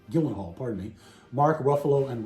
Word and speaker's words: Gyllenhaal: researcher robert grey smith's book starring uh jake gein hall i pronounced that right gyllenhaal pardon me mark ruffalo and robert downey jr